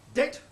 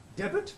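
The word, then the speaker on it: debt: Det, when he should pronounce debit, D-E-B-T, not D-E-T.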